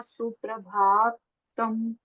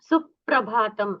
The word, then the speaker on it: सुप्रभातम: आगे प्र है ना तो उसका उच्चारण सुप्रभातम ऐसा करना है ना कि सुप्रभात सुप्रभातम हां जो प्र आ रहा है उसको जरा उसके पहले अक्षर पर थोड़ा सा स्ट्रेस आता है।